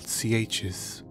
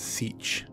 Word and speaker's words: sietch: On Arrakis, there are locations called CHs. The word is commonly mispronounced as Sietch, but it should be CH.